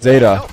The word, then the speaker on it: Zeta: looking at an aggressive Zeta. No, it's pronounced Zeta.